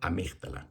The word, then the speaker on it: amígdala: En el centro de tu cerebro hay una estructura pequeñita del tamaño de una almendra que se llama amígdala, con acento en la I.